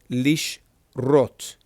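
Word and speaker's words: לשרות: If there's no indicator, then this is going to be silent. So this over here, beginning with the lamed, lish, this is a shin, lish rot, lish rot. And remember, this is only this, your holem, with the body of the vav stricken out. Okay? It's just brought up here. Lishrot. Lishrot.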